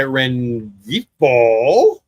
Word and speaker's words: Rengifo: Swing and a miss by Rengifo. Don't think the G is pronounced, but I did.